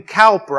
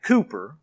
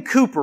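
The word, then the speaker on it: Cowper: a man named william calper i think actually you pronounce his name cooper though it's it's written calper william cooper wrote that song it's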